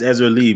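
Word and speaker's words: Erzulie: Zuli or Ezra Lee? So the R is silent. My bad. Go ahead. I'm saying the R is silent then.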